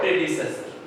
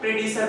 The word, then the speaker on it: predecessor: इसको प्रोनाउंसिएट करेंगे, कई बार हम लोग क्या है प्रेडिसर बोल जाते हैं। This is the wrong pronunciation, you pronunciate प्रेडिसेसर। Clear है? दो टुकड़ों में बांट लो, प्रेडिसेसर, प्रेडिसेसर नॉट प्रेडिसर।